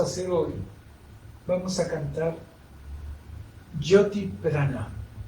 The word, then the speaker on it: Jyoti: Por eso, la meditación que vamos a hacer hoy, vamos a cantar Jyoti Prana. Jyoti. Si ven en la descripción del video, está escrito con J, pero no es español. Se pronuncia J.